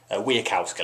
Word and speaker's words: Wasikowska: I should really learn how to pronounce her name. Wasikowska, let's say that.